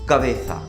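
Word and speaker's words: cabeza: Head को बोलते हैं ला कबेसा, कबेसा, जेड जेता, ला कबेसा, ठीक है।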